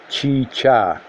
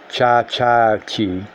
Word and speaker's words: chicha: said that the taking of chicha which is pronounced chicha but what he pronounced cha-cha - I didn't pronounce a second one but